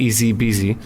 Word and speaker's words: Easy Beasy: and you click an Easy Beasy. 4 letters. Easy beasy. You don't spell it easy, out. and it's easy beasy, just like easy peasy, but with a B.